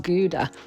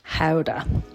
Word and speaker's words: Gouda: Today we are visiting the beautiful Dutch town of Gouda, or as it's pronounced in Dutch, Gouda.